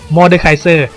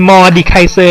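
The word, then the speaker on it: Mordekaiser: คือ Miser อ่าน ว่า Moriser the master of Metal โดย ชื่อ ของ เขา แบ่ง ออก เป็น 4 พยางค์ คือ Miser เรา จะ อ่าน ผิด เป็น moder ไม่ ได้ นะ ครับ เพราะ ว่า เป็น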